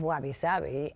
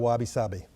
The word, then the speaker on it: wabi-sabi: Well, first of all, that whole idea of wabi-sabi and imperfection, to me, if something is perfect, it's dead.